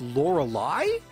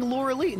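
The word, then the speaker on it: Lorelei: was do you know she's pronounced Lorelai I've been saying Laura lein I'm kidding um Laura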